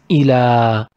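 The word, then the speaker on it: إلى: It is ila. We write it like ya without dots. Don't forget this. If you found two dots, it will be ili. It will have the yi sound. We pronounce it ila. And we write it like ili.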